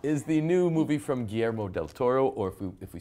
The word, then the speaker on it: Guillermo del Toro: is the new movie from Guillermo del Toro, or if we say it correctly, Guillermo del Toro. Guillermo.